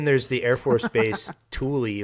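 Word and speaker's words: Thule: the Air Force Base Tuli that's how it's pronounced in Greenland um which could be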